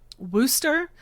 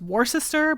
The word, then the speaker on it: Worcester: basically was bullied when I pronounced the R in Worcester, which anyone who's not familiar is spelled like it should be pronounced Worcester, but no, don't actually